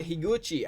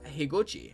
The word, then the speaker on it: Higuchi: we have uh kiyosuke higuchi i think that's how to pronounce his name it's definitely higuchi though higuchi higuchi or higochi one of those three probably uh because uh